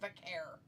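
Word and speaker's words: Vaquer: Then why is he pronouncing it Vacare? Because Nikki Bella, and Now we're making fun of her? She spent like an hour with her pronouncing it before she went out there. And still pronounced it wrong? No, she pronounced it right. And everybody else has pronounced it wrong since she's been in WWE, supposedly.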